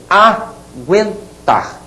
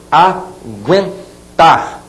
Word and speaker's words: aguentar: Pronunciou, o U é pronunciado e é fraquinho, você vai colocar o trema, aqueles 2 pinguinhos, sobre a letra U. Olhem bem, aguentar. Olha a pronúncia, aguentar. O que eu falei? Aguentar. Trema na letra U. Aquele U está sendo pronunciado de maneira muito rápida, né?